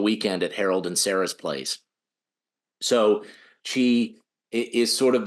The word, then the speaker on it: Place: Is it plus or place? Place.